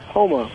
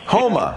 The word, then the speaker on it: Houma: In, is it Houma? Houma. Houma. Actually how it's pronounced.